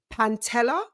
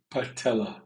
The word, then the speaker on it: patella: suffered an season ending Pantella. Did I say it right? Patella. There's no N in patella.